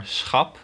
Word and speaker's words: schap: Two examples in this are schap and schaap. Very similar words, but completely different pronunciations because of the vowel combination of, well, double A.